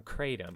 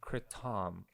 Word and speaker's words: kratom: um i've also got some kratom or you know how it's said properly some kritam um you know i